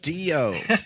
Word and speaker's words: Dio: And also for those of you who are trying to spell it out, it's Dio like audio. Nothing too complicated about it. Yeah, Um, not like and Neo, so dude. Dio.